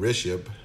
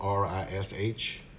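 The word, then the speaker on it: Rishabh: The original company who made this multimeter is called Rishab, and it's spelled R-I-S-H-A-B-H, and headquartered in India.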